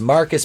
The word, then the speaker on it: Marquise: At Wayne, we see behind the desk none other than the new CEO of Wayne Enterprises, Marquise, pronounced Marcus because he's a fucking